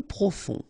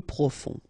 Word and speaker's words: profond: Peu profond. Final D not pronounced. Peu profond.